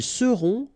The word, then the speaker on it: seront: the end, et serez, ils seront, final T not pronounced, elles seront.